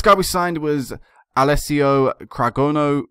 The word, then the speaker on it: Cragno: we signed was alessio cragno Craig Craig no i believe it's pronounced 29 years of age